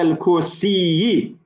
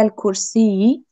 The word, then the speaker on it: الكرسي: Very good, but please pronounce the last vowel. So it should be على الكرسي. Yes. على الكرسي.